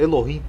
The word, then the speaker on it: Elohim: Elohim do hebraico, Elohim ou Eloá, pronunciado Elohim, é um substantivo que se refere a Deus, usado na língua hebraica moderna e antiga.